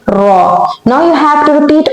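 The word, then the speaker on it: ر: How you are going to pronounce raw? And what is sound of the raw? Raw has r like sound.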